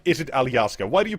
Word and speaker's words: Alaska: the normal English way why do you have to say it the oldfashioned way Alaska because that's how we say it that's how we say it in Slovenian mhm mhm yeah Alaska